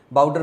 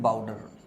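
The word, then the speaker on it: boudoir: के बैठने का कमरा हिंदी में बोलते इसको बाउडर बोलते हैं क्या बोलते हैं बाउडर बी ओ यू डीओ आई आर बाउडर बी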